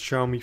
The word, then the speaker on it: Xiaomi: a Xiaomi phone Xiaomi I know it's spelled xiao mi it's pronounced Xiaomi first I'd like to say that